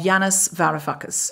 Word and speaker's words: Yanis Varoufakis: eye of the storm the political Odyssey of Janis VAR fuckus how good was the pronunciation of that name then was that good